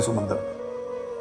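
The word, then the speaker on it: Psalms: लिखने में पी एस ए एल एम एस लिखते हैं। मगर पी और एल दोनों साइलेंट होते हैं।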